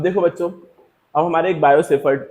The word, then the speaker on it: Biot-Savart: ठीक है, ये टी साइलेंट होता है इसलिए हम लोग बायोसेफर्ट लॉ पढ़ते हैं इसको।